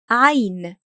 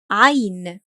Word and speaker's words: عين: The one we have today is ʻayn. ʻayn.